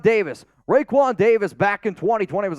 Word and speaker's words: Raekwon: was going to say you said Roe quad Smith earlier to me and I was like that's not how you say it Raekwon Davis Raekwon Davis back in 2020